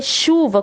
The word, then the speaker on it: chuva: Porque chuva, quando eu falo chu, é a pronúncia do X. Então eu vou ter o X, o U, o V e o A. Mas chuva não é escrita com X, ela é escrita com CH. Mas na minha pronúncia eu pronuncio com X. É por isso que ela